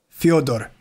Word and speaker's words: Fyodor: Fyodor. Yes. Fyodor. Yes. It's a transliteration of Theodore.